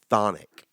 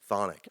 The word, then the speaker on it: chthonic: How about chthonic?